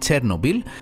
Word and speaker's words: Chernobyl: Chernobyl One of the things I remember from my childhood, growing up in the 80's, is the nuclear accident in Chernobyl The way it's pronounced is 'CHirˈnōbil,' although in Greece we have learned to pronounce it...